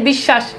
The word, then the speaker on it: বিশ্বাস: যেমন দেখেন বিশ্বাস, এই যে দেখেন মাঝখানে আছে এই জন্য দেখেন তালেব বেশ 2 বার উচ্চারণ হয়েছে।